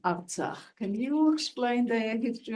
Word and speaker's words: Artsakh: Artsakh, actually, it's pronounced Artsakh.